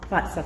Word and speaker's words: Vatsal: Vatsal, is that how we pronounce it? Vatsal, thank you, is the author of A Front